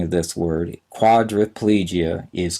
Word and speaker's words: quadriplegia: spelling of this word quadriplegia is q u a d r i p l e g i a we often pronounce it as if that i is an a we say quadra plegia but it's spelled quadriplegia